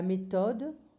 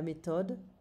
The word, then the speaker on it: méthode: La méthode, we don't pronounce the TH in French, it's going to be a T sound. La méthode, la salade, la certitude.